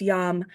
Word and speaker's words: Yam: heart chakra which is spelled like yams but it's pronounced yum and we're just going to say it three times yum y y